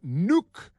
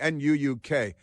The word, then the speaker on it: Nuuk: the greenlandic capital of nuke on on uh on Tuesday Nuuk is that pronounced nuke like nuclear but the there it